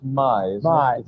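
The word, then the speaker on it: Maj: And your wife's name is pronounced Mai, isn't Mai. it? It's M-A-J, it's pronounced Mai.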